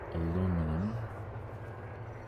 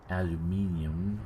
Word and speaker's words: aluminium: So I'm loading 6,500 tons of titanium, about 12,500 tons of aluminum, aluminium, how the British pronounce it, and then some liquid oxygen.